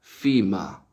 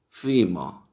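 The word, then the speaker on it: femur: Justamente el nombre es el que está a la derecha en este par, que es, en inglés se pronuncia FIMA, FIMA, ¿sí? FIMA, el fémur, ¿sí?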